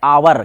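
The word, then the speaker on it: hour: यहां पे क्या है एच ओ यू आर जिको बोलते हैं आवर क्या बोलते हैं आवर अब यदि हमारा पूर्णा उंस यदि गलत हो जाएगा जैसे हावर पढ़ेंगे इसको होने पढ़ेंगे तो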